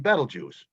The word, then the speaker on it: Betelgeuse: have do not agree there's two pronunciations for betelgeuse we're told we're supposed to be saying battle juice so therefore however you